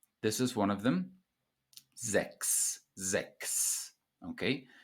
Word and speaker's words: sechs: the CH in sechs is pronounced like a K.